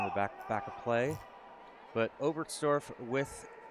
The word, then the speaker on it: Oberstdorf: Wetzikon or Oberstdorf? Oberstdorf, because I think I'm saying Oberstdorf, like the TS instead of ST.